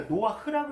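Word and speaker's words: נֹחַ: 그래서 노아는 읽을 때 이거 노아흐라고 읽습니다. 요거 묵음이거든요. 그래서 노아흐, 이 모음 때문에 노아흐라고 읽어요.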